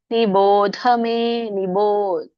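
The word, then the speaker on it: निबोधमे: ಮಾತಾಜಿ ಪಂಚೈತಾನಿ ಮಹಾಬಾಹೋ ಕಾರಣಾನಿ ನಿಬೋಧಮೇನಿ ಮಾತ್ರ ಮಹಾಪ್ರಾಣ ಇದೆ ನಿಬೋಧಮೇ ಸಾಂಖ್ಯೆ ಕೃತಾಂತೆ ಪ್ರೋಕ್ತಾನಿಯೇ ಸರ್ವಕರ್ಮಣ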